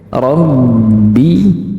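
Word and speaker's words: رَبِّ: agar kita tidak bingung Rabbi seperti ada suara yang tertahan di dalam rongga mulut kita coba didengarkan dengan baik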